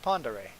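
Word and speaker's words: Pend Oreille: it confuses me but it's called pandare lake ponderay yeah there's like a town nearby actually spelled out panda ray the way you pronounce it so yep just look at if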